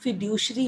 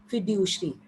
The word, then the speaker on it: fiduciary: ये जो non legal tender money है बेटे, this is also known as फिड्यूशरी money. फिड्यूशरी spellings है FIDUCIARY, ठीक है.